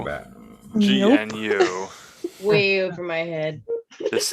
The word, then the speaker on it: GNU: pronounced as one syllable with a hard G.